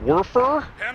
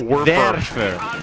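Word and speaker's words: Werfer: love seeing the Panzer warer 42 rocket launcher warer warer nice verer ver ver say it with me say it like a V ver where where mocked no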